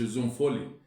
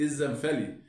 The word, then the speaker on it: الزنفلي: طبعا محمود الزنفلي، واسمه يا جماعه محمود الزنفلي مش الزنفولي، يعني في ناس بتنطق الزنفولي، لا هو محمود الزنفلي، هي العيله كده اسمها الزنفلي مش الزنفولي، لان في بعض المعلقين بيقول زنفولي ودي خطا يعني.